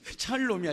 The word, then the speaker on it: 샬롬: 애들이 이걸 잘못 알아들어가지고 욕인 줄 알았대. 이게 이렇게 그게 아니야. 샬롬이야, 샬롬. 그 발음을 잘해야 돼, 알았지?